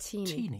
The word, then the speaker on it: Tini: Yeah, it's the marriage of Hugh Owens and Tini. It's actually pronounced Tini.